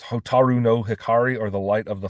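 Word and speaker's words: 蛍の光: They have a popular song uh pronounced hotaru no hikari or the light of the firefly.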